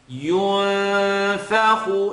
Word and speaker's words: ينفخ: ينفخ, noon sukun followed by the letter fa. So it's not going to be a yunfakhu, tongue touch. Yun is going to be tongue not touch. The letter fa is the next letter. It's not heavy. So we're going to keep a light tongue not touch.